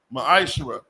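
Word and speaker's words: מעשר: 3: 8-10 means 10 in the Hebrew it's pronounced maish 10% of every penny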